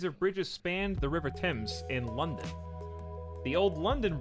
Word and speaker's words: Thames: with me nobody knows the river tim's t-e-m-s just don't say it again i like how american